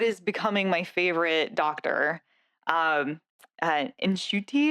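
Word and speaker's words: Ncuti: Nshuti is, I think, how you pronounce his name, Gatwa.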